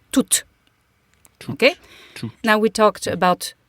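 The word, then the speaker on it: tout: iCal function of two it's going to be pronounced to okay now we talked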